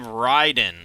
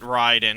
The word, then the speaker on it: Raiden: And then they have Raiden, although they don't pronounce it Raiden, because that would be the actual proper Japanese pronunciation. They pronounce it Raiden. And apparently that's just canonically how his name is pronounced, even though it's just wrong.